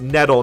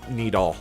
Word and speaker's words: nettle: it oh I guess I guess it's nettle not needle I I was saying it wrong so make check uh